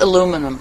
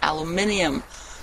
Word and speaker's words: aluminium: Except aluminum or aluminium. In Germany, we call it aluminium. I never understood why Americans say aluminum.